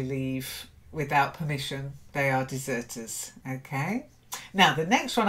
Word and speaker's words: deserter: fault no and then deserter to dessert a deserter not a deserter dessert dessert that's it good good good somebody